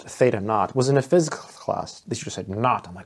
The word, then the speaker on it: theta naught: I remember the first time learning that that's pronounced Theta naught was in a physical class that you just